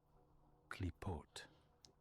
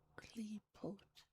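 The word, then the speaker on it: Qlippoth: In the context of Jewish mysticism, this term Kulifov is pronounced as Klipot. Klipot. Despite the unusual spelling with the letter Q, the initial sound is pronounced as a standard hard Ka. Klipot. Klipot.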